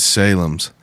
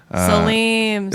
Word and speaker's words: Salem's: And Salem's. Salim's. It's Salem's. I heard it on Really? I called. I've been pronouncing it Salim's, but I called it on the phone, and they said Salem's Market, and I feel like I've heard so many I've people heard say everybody Salim's.